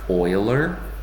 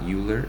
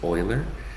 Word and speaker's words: Euler: And this guy here, his name is pronounced like Euler. even though it looks like Euler, but it's not Euler, it's Euler.